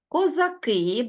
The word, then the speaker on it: козаки: наголос на суфіксі бачимо Отож козак наголос на корені козаки перемістився у множені наголос на закінчення і у слові козаченьки